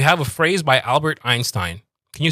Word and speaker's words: Einstein: Einstein.